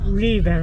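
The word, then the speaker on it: 日本: 我说日本人。日本。我们说是叫日本。日本。日系的日。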